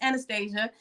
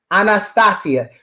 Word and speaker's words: Anastasia: Listen, I fully understand and realize that I got the boring North American pronunciation. I stick to that because that's what I was given.